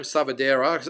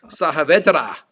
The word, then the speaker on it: Saavedra: Savadera. I can't get his name right. Endry Saavedra is how you pronounce it, apparently.